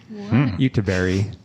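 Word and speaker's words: Göteborg: would say Gothenburg but what I discovered the swedes pronounce it as YouTuber Utah Berry yeah I know it's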